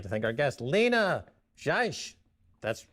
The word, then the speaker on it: Seiche: I'd like to thank our guest, Lina Seiche. That's spelled S-E-I-C-H-E.